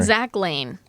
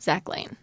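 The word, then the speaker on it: Lahn: Zach Lane. It's spelled Z A C H L A H N. Zach Lane.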